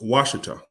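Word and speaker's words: Ouachita: Their name has also been pronounced Washita by English speakers.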